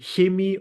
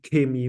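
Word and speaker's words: Chemie: in ger is called you will also find people who pronounce it HEI or Shi in standard German it would be K me with a K but this has nothing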